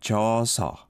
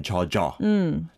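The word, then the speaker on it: 젖어: in terms of pronunciation, I think she said jasa. Rather than chaja. Chaja meaning to get wet with something, right? Definitely. You need to pronounce it as 저저 because it comes from the verb 젖다, which 젖다. means to be wet.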